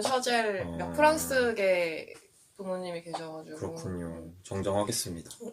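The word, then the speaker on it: Chazelle: 데이미언 셔젤 감동도 데이미언 차젤레 어 나는 아직도 데미엔 차젤레라고 발음하는데 그 원래 발음으로는 샤젤 프랑스의 부모님이 계셔가지고 그렇군요.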